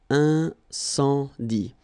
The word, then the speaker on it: incendie: And then you get the nasal. Incendie.